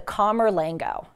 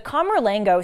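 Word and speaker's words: camerlengo: person to be notified is someone called the calmer lingo that's spelled c-a-m-e-r-l-e-n-g-o the comerlango serves as the administrator of property and revenues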